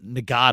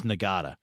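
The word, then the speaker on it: Ngata: to get him signed I think nada's uh nagada I should say some guys pronounce it NADA he's nagada so it was the guy for the Ravens was not uh this guy's nagada but um receiver five-star Prospect coming out of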